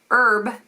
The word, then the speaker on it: herb: name of a person herb h e RB so with a silent h is the actual like herbs that people can use for medicinal purchases purposes or herbologist in this case so that's how